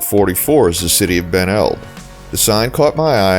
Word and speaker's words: Benld: Ben Eld was declared the most difficult to pronounce place name in the state of Illinois by Reader's Digest, although it's phonetic if you can ignore the need for vowels.